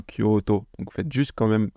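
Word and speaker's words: 京都: Par exemple, nous on dit Kyoto, mais en japonais c'est bien Kyoto.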